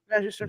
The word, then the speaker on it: Magister: Magister.